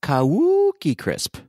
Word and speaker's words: Cookie Crisp: on Adam is that you didn't pronounce Cookie Crisp correctly it's kauki Crisp that's more of a dialect thing Patrick I think it's parts of Minnesota pronounce it that way got it got it